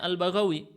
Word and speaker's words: al-Baghawi: Ini bacanya Al-Baghawi. Bagaimana bisa ketahuan? Dengan teks yang disebutkan setelahnya bifathil ba'il muwahhadah wal ghain al-mu'jamah.